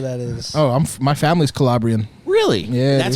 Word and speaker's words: Calabria: no idea where that is oh my family's calabrian really yeah that's how it's pronounced Calabria I apologize if I'm mispronouncing it it's fine